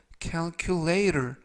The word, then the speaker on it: calculator: 끝부분에 있는 T가 트가 아니라 부드럽게 그래서 calculator 이라고 발음하시면 좋겠습니다.